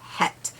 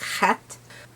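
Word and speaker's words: Heth: The children of Het, which I completely mispronounced in the video. It is Het. Although it's not more of a forward H. It's the backward H. So, it's more like Het.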